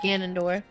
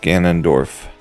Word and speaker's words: Ganondorf: be fine you're not you're not gonna survive Ganondorf I say it right again yeah you did